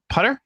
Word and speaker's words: Putter: to uh um uh putter putter is that how i pronounce it that's right that's right sounds like